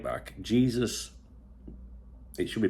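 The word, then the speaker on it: Jesús: they're talking about um the 17-year-old right back Jesus it should be pronounced Jesus en castiano Jesus uh fora you might want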